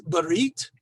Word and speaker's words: brit: story of Abraham, we have the ritual of brit, milah, the ritual circumcision. Now, there are two words here. One is brit.